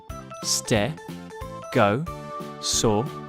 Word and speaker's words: Stegosaurus: you say that again stare go saw rest can you say it with me stare go saw so what do we